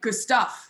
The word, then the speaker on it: Gustaf: And yeah, in Europe we're like Gustaf, you know, Yeah. like they say it differently. So it's like technically Gustaf with like a very American pronunciation.